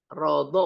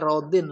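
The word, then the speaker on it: راضٍ: Illa alaman rodo, man, rodo boleh dibacanya, dibaca rodin lebih bagus.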